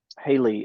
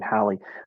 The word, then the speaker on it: Hallie: Now, I know when I was talking with Haley about, or Hallie, I think you pronounced her name, Hallie, about this whole shift from MailChimp.